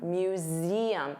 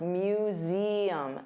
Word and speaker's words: museum: So notice you have that voiced Z sound, museum. And there are 3 sounds, museum, museum, museum.